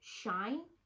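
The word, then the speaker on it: Shein: actually sophie found this website called shine it's spelled s-h-e-i-n right yes i got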